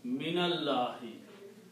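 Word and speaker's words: مِنَ ٱللَّٰهِ: And when you pronounce them together, you pronounce noon with a fatha, nallahi, minallahi, from Allah.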